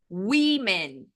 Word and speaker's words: women: mudando o contexto rapidinho Women Women assim que a gente pronuncia mesmo que aqui é um o a gente pronuncia como ween para falar no plural